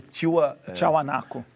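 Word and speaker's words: Tiahuanaco: que viveu ali a pronúncia correta é a pronúncia correta tio tchau anaco tchau anaco isso eles vem antes dos incas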